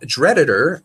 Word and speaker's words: Dreditor: That Dreditor, short for Drupal editor and pronounced Dreditor, started as a simple